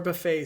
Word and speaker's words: Buffet: in the serum but a lot of people pronounce it buff it and i actually think that's the correct way to say it so boring anyway this